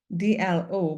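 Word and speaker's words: D'Leau: It's pronounced DLO, but it's spelled DEL''EAU. I would say Dilo, Mama Dilo.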